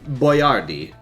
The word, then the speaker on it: Boiardi: It's Ettore Boiardi. And then they started calling him Hector Boiardi. And he put his name on his chef's hat, spelled out Boy-R-D. So people would know how to pronounce it.